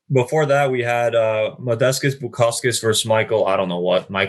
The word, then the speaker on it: Bukauskas: It's not Bukaki, it's Bukauskas. Bukauskas.